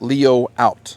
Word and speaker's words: Leoout: how you pronounce it you're going to hear it different ways on the YouTube but it's actually pronounced Leo out that's what the company